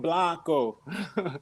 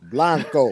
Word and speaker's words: Blanco: It's Blanco. Blanco.